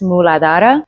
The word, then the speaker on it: Muladhara: In Sanskrit, it's pronounced muladhara.